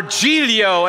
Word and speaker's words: Giglio: about something that goes with Giglio or gto as it's pronounced you're thinking this is